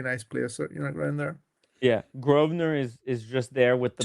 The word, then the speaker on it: Grosvenor: Well, I think I toured the BM because this is right next to the Grosvenor House.